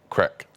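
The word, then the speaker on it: craic: you making that noise but it's spelled differently Craig c-r-a-i-c crack what's the Crick what's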